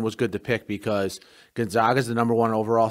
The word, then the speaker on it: Gonzaga: a big part of gonzaga bursting on the scene right was dan munson when this all got started schooling everyone in a press conference on the proper way to say gonzaga instead of gonzaga right that was a